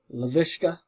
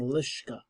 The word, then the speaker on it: Laviska: Laviska. Laviska. I've been saying Lishka.